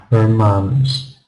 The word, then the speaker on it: romance: No, she's got the stress right. Second syllable stress with romance.